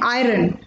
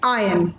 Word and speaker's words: iron: Usually log ise pronounce karte hain iron. Main repeat karti hu, usually log ise pronounce karte hain iron, but iski correct pronunciation is iron.